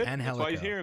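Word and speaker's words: Angélico: Justin's corrected me. It's pronounced Angelico.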